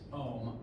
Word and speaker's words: Ohm: That name is pronounced Ohm, O-H-M.